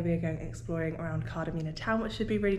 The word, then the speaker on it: Kardamena: Kardamena. For the day. That's how you say it.